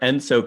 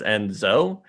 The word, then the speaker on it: ENSO: asked in discussing our enso conditions after ian called out aaron for pronouncing and so as enzo i referred to this